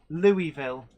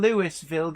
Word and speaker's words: Louisville: um Bluegrass rail fan confirms Louisville yeah saying Lewisville gets you weird looks from everyone here unfamiliar Terriers I try